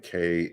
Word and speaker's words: Kleiman: And Kleiman is going to be spelled with a K. It's like Kleiman.